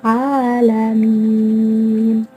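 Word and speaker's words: العالمين: Hukum bacaannya yaitu idhar qamariyah. Karena ada lam alif diikuti oleh ain. Dan juga ada mad tabi'i dan mad arid li sukun. Ada mad tabi'i karena ada fathah yang diikuti alif. Di bacaan ala itu ada fathah yang diikuti alif. Dan mad arid li sukun karena sebelum waqaf ada mad tabi'i. Jadi cara membacanya harus terang dan jelas.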